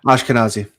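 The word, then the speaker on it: Ashkenazi: Oh man, how we pronounce that? Ashkanazi. Ashkanazi.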